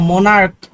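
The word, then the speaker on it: monarch: সি এইচ টা আছে এটা চ এর মতো না বরং এটা ক এর মত উচ্চারিত হবে যেমন আমি বললাম মোনার্ক তাইলে মোনার্ক যখন বললাম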